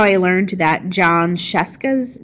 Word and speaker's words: Scieszka: I learned that John Scieszka's name is pronounced how it is because it rhymes with Fresca so let's scrolling down